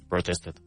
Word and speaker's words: protested: which would be protested. Protested. Very good. And because it ends in a t protest then we we the pronunciation is it protested.